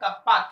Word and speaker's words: kappa: Pronunciation है इसका, symbolic नाम है कप्पा, KAPPA, ऐसे के जैसा लिखेंगे।